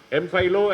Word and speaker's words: Mpilo: Because there was a guy called, how is it pronounced, I don't know, Mpilo? Is it correct? Okay. Mpilo and Nandi are the two characters.